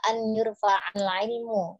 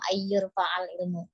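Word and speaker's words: أن يرفع العلم: Untuk nun sukunnya dibaca an yurfa'al ilmu, ya tidak dimasukkan menjadi idgham ayyurfa'al ilmu.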